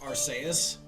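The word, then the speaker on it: Arceus: It's pronounced aras. Areas does sound a little better. I would say if I do say us so myself. The way you're saying it is already correct. Archus.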